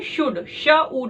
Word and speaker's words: should: " should" में 'o' और 'l' silent हैं। तो , हमें क्या सुनने को मिलता है? शुड, शुड।